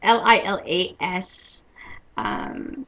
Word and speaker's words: Lilas: So, so it's Lilas. So the S is silent; you don't hear it.